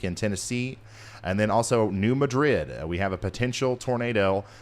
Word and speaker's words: New Madrid: New Madrid. So it's not New Madrid, it's New Madrid.